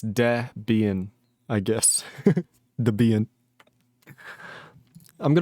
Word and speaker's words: Debian: Also, the E in Debian is pronounced like the E in tests, not the E in deviant. Debian? That just sounds wrong. I'm going to continue saying Debian.